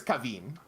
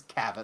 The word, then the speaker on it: Kavin: Yes, I'm pretty sure it's Cavine, but Caven. Caven. Caven. It's Caven. K A- Ven. Caven. Okay. Caven. At least that's what Google tells me.